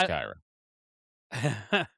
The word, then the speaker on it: Kyra: Kyra. Yes. Yes. Rhymes with Myra. It's Kyra.